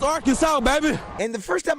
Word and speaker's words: Arkansas: Yes, it's Arkansas, baby. And the first time I heard it, that's He goes, "And that's how you pronounce it. It's Arkansas." Uh, not it ain't our Kansas, Justin.